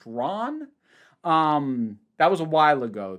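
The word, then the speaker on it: Ran: I have only seen one other film from him, which is, I think it's pronounced Ron.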